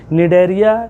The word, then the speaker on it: Cnidaria: जिसका नाम मिली डोरिया डोरिया से यहां पर साइलेंट है सी को नहीं पढ़ना है धैर्य है या इसी को यहां पर सिलेंडर रेट के नाम से पहचाना जाता है नीड एरिया या सिलेंडर रेट आ